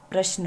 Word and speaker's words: प्रश्न: show आदत है और आगे है ब्रॉशर न प्रश्न है तो इसका उच्चारण तो कैसे होगा है इसका उच्चारण इस